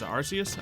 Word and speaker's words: Arceus: I think that's how you pronounce Arceus. I never played the game, so I just go off what other people say. But, other people are often wrong, so I don't know for sure.